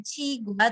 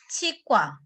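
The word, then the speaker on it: 치과: Tapi orang Korea ketika membaca ini bukan cigua tetapi cikwa.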